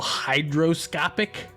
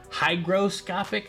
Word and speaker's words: hygroscopic: is what they call hydroscopic hygroscopic I'm sorry I want to say Hydro with a d but it's spelled with a D or G I'm sorry God it